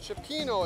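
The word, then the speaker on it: cioppino: the name of this dish again new england cupino cipino is how it's pronounced and you got some mussels and and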